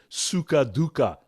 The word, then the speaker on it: sukha dukkha: again and pain and sukha dukkha is a great expression. I love it because it rhymes. Sukha dukkha sounds like, Tweedledee, Tweedledum.